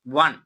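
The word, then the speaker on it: one: Dash വൺ ഓ ആണ് ആദ്യം കിടക്കുന്ന ഉച്ചാരണം വ എന്നാണ്. വ എന്ന് പറയുന്നത് വ്യഞ്ജന ശബ്ദം അല്ലേ അപ്പോ എവൺ എവൺ ഇതൊക്കെ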